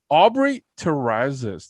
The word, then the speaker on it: Aubrey Terrazas: the show i am joined by the lovely aubrey terrazas did i pronounce that correctly you pronounced it perfectly amazing